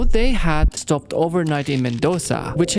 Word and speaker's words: Mendoza: So, they had stopped overnight in Mendoza, which if you really lean into it, it is pronounced Mendoza.